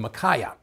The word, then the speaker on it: Micaiah: in the Old Testament, if I don't know how to pronounce them, I go and listen to an audio version of the Bible and listen to how they pronounce them, and that's how they pronounce his name, Micaiah.